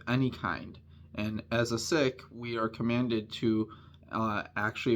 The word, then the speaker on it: Sikh: I myself, I'm a member of the Sikh faith, or Sikh faith as we pronounce it, but I have